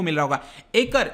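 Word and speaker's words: Acre: को मिल रहा होगा एकर, इसका ये इंग्लिश में प्रोनाउंसिएशन तो आई थिंक एकर कहेंगे, लेकिन हिब्रू में इसको एक्को कहा जाता है और अरबिक में अक्का भी कहा जाता है, ठीक है।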